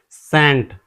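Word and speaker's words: scent: इसे हम सेंट पढ़ते हैं।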